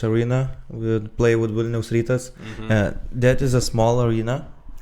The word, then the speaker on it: Rytas: base is insane, and then like how you pronounce it, Rytas, yeah.